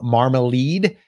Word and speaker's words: Marmalade: This is from Marmalade, I believe is how you say that. I was corrected. So that is how you say it.